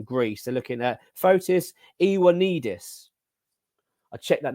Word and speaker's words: Ioannidis: They're looking at Fotis Ioannidis. I checked that name out. I got it right. I pronounced it.